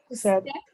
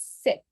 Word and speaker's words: sept: 7, Sept. You feel like pronouncing it with a P, sept, but the P is silent. So it is set, 7, set.